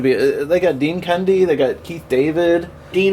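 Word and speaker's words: Cundey: what's his last name cundy say it one more time Cy it sounds like you're saying candy in a funny way candy you definitely want to pronounce the d in that do you like the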